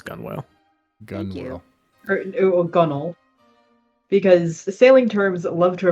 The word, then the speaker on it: gunwale: That's the name spelled for gunwale, pronounced gunnel.